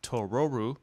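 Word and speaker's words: トロル: because of the difference between tororu the Japanese pronunciation of troll and Totoro would have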